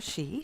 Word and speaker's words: Shea: storytelling festival and I have in studio Cassandra shei she's the head of did I say your last name wrong that's okay oh God sh sh you know I asked her three times already Cassandra Shay I'm sorry head of theater and festivals at